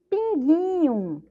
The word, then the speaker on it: pinguinho: Observem que na palavra pinguinho, a sílaba mais forte é o gui, né? Gui, gui. Então, o iu, que é uma sílaba fraca, a pró colocou ali a vogal O.